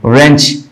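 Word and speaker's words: wrench: carat double R है रेंच रेंच में क्या है डब्लू और आर है तब भी सिर्फ रा को पढ़ा जाएगा डब्लू को नहीं पढ़ा जाएगा राइम आर है सिर्फ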